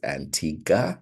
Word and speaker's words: Antigua: And yes, it is Antigua, where the U is silent, and Barbuda.